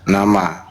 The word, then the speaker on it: nama: itu name nama nama nama ini cara bacanya n a ma nama bukan na ma jabatan gitu bukan iya iya